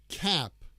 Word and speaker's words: cap: The ah sound. Cap. Cap. To make that ah sound, it's kind of a long sound.